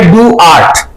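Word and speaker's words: DOART: आर टी ठीक है आप इसको डॉट भी कह सकते हैं आप इसको डू आर्ट भी कह सकते हैं बहुत से लोग इसको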